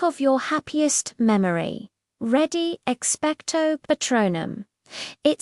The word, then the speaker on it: Patronum: Now for patronum, the A sound is like the A in father patronum. Notice the stress is on the second syllable tro. It's given a bit more force and length.